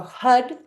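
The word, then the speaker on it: Har: So it'll go like so it'll go Hud Hud Hud Hud and you'll hit but we'll chant the mantra h a d.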